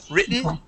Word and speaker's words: written: written or button okay we do not make those a Double T sound they are a swallowed or an eat okay written written button okay written button Mountain okay okay that's how we would pronounce those those t's um they're eaten they're swallowed up they're they're they're